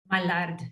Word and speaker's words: Mallard: by Mexican author Alain-Paul, does he say Mallard? Mallard, it's French.